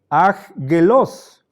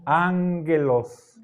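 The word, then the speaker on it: ἄγγελος: pronunciar aggelos o agos la primera gama suena como n Entonces ya Entonces tenemos aquí una primera G esta la de la izquierda es la de aquí la otra es la de este grupo de la cultural entonces aquí se están encontrando dos consonantes cuya pronunciación resulta un tanto difícil para facilidad entonces la primera la convertimos en una n Esto suena angelos angelos ahí viene Ángel Sí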